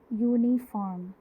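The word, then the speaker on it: uniform: फॉर example अगर हम लिखें यूनिफॉर्म, यूनिफॉर्म में स्टार्टिंग जो लेटर है, जो फर्स्ट लेटर है वो एक वॉवल है यू।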